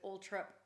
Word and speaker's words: Althorp: earl spencer so um charles spencer who's at ulthorp but you can pronounce it old trip or although that was an interesting thing that he told you yeah which was because i've always thought it was all true and then julie asked